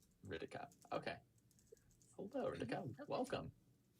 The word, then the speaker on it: Kritika: So as for pronunciating my name, it's Hritika. So take the H, throw it out a window, and Hritika. Ritika.